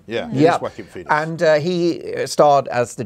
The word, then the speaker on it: Joaquin Phoenix: Yeah, it is Joaquin Phoenix.